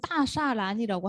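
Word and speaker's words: 大栅栏: 따자란이라고 부르고 그 청나라 만주족 발음으로 얘기를 해서 짜라고 발음을 하지 않고 따샤란이라고 하는 것 같았어요. 사 같은 발음으로 하더라고요.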